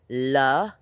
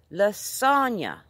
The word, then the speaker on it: lasagne: It's got three syllables, guys. La-san-ya. Lasagna.